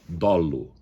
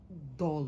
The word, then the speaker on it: dolo: Mas por exemplo, algumas palavras com o aberto, né? Palavras que realmente trazem dúvidas, dolo e não dolo. O procedimento fraudulento, é muito utilizado no setor de direito, corretoeto. É dolo, dolo.